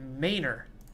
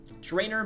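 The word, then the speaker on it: Draynor: was like why the heck do you keep pronouncing it Maynor drainer Manor so now I'm extra self-conscious I'm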